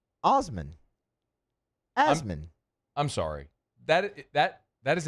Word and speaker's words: Osman: Osmond. This would be Osman. Right? M-A-N, not Mon.